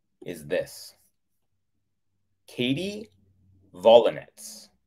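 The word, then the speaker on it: Volynets: Now, I think it's pronounced Volinets, but I'm saying Volinets because she's a tennis player and her last name is spelled V-O-L-Y. So that's almost like volley. And then N-E-T-S, V-O-L-Y-N-E-T-S, Volinets.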